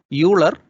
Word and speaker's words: Euler: See, while writing, you write E-U-L-E-R, Euler, but the pronunciation is Euler.